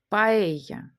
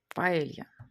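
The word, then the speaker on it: paella: Також, коли ми бачимо дві еле, то ми їх будемо читати як й ямар, дзвонити. Паеля, паелья.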